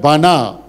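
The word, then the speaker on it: בנה: Is the word bana.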